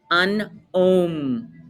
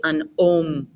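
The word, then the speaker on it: un homme: all you know repete an om h's exist in the french language but they're never pronounced they do not pronounce the h sound so go right to the vowel repete say an om i think this is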